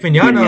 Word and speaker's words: Mignogna: How do you pronounce his name, Ernie? What's your name? Vic Magnona. Mignana. Vic Mignogna.